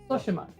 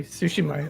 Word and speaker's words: Tsushima: How do you pronounce it? Tsushima. Tsushima. Okay, Tsushima, apparently.